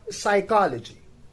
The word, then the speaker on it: psychology: The next we have that is psychology. It is spelled as PSYCHOLOGY, psychology, right?